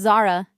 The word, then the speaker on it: Zara: It's Zara, she says with an ah sound.